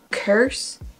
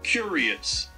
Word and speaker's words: curious: French mindsets I guess you say you're very curious person but pronounced it as curse do mean full language or someone they do you're not curse I hope I'm not okay so curious you see that's the